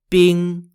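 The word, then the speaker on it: 兵: the pieces are named in chinese as either bing spelt b-i-n-g if you're on the red side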